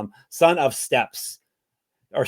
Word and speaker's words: Steppes: Son of Steps or Steeps. How do you say Steppes? It's steep. It's steep, which is it's a biome.